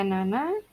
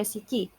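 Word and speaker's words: 七: lima itu B6 roku 7 bisa dibaca Nana bisa dibaca Cici ya tapi lebih banyak ya dibacanya Nana 28 haji 9q ya atau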